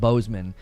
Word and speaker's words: Bossman: I actually think it's probably historically pronounced Boseman, but because he's like me, like a kind of a smaller nerdy guy, you know what I mean? I think that's I think he he's convinced everybody that it's pronounced bossman cuz he he he wants to elevate his status.